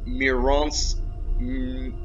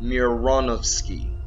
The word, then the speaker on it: Mironovsky: You know, you're not talking about the people who made this guy, like Artem Mironsky. Let me pronounce it right. Artem Mironovsky.